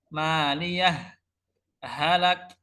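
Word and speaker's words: مَالِيَهْ هَلَكَ: Cara bacanya jadi ketika wasol maliyah halak, maliyah halak, berhenti tanpa nafas.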